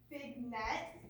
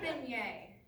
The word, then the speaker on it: beignet: What is a big net? It's pronounced beignet.